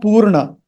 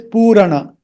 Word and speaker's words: Purana: But this Purana, this is not Purna. It is Purana.